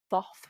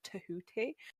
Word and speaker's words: Thoth: increasing interest in is Thoth, which is probably pronounced Tahooti originally.